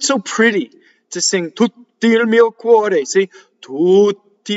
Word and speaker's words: tutti: Notice that there are two double T's. The word is a strong monosyllable. So you have a double T at the beginning and you have a double T in the middle. But how do we do double T? We do two T's.